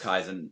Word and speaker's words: Kaizen: Kaizen Pro Wrestling.